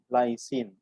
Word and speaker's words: lysine: a a nice okay most of the amino acids if you see their names end with irony in so you have to pronounce it as in serene violin proline lysine okay just a pronunciation again